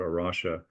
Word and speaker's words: A Rocha: then this as a volunteer this organization called arasha which is spelled a and then r o c ha